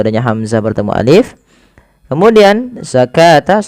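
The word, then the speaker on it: الزكاة: Kemudian zakata sama dengan ini jangan dibaca dengan zakawata.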